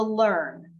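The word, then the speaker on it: LIRN: And then last but not least, the LEARN, okay? It's spelled not L-E-A-R-N, but it's spelled L-I-R-N.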